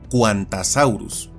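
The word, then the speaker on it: Qantassaurus: que usa siglas, y esa Q viene de Queensland, por lo que solo en este caso sería pronunciado y escrito con CU, como Quantasaurus.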